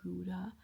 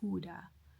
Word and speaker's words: Gouda: We had some Gouda, but the guy who did the tour informed us that they pronounce it Huda instead of Gouda.